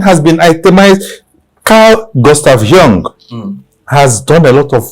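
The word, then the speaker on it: Jung: written gust yeah gust Young The Young is j u n g is German j u n g you know J J in German is pronounced like why like why so wow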